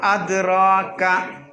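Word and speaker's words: أدراك: വമാ അദ്റാക. അവിടെ എഴുതിയത് അദ്റയാക്ക എന്നല്ലേ? നിങ്ങൾ ഖുർആനിൽ എന്താ ഉള്ളത്? അദ്റയാക്ക എന്നല്ലേ ഉള്ളത്? പിന്നെന്താ നിങ്ങൾ അദ്റാക്ക ഉച്ചരിക്കണത്?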